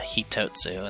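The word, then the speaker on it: 一つ: beside it it becomes one thing and that's pronounced as a hitotsu instead which means instead of ichi for one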